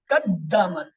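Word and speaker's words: قدّمت: قدمت, ہاں قدمت, دال پہ شد ہے, اس کی 2 آوازیں نکلیں گی, قدمت. بس یہ قدمت.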